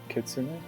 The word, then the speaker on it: kitsune: Um so it is go ahead chat GBT says kitsune k e ts u n eh there you go kitsune.